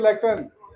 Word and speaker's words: lectern: This is lectern.